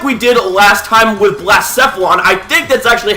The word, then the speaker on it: Blacephalon: Anyways, ladies and gentlemen, like we did last time with Blacephalon, I think that's actually how you pronounce it after a bit of further research.